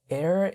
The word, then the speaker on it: Aer: Air is from San Francisco. It's spelled like AER.